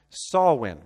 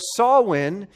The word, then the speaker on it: Samhain: per Newt pronounced Samhain it's pronounced saw win okay so saw win is an ancient Celtic